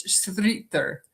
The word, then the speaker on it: Schroeder: So even though people have trouble saying Schroeder, in German it's Schroeder.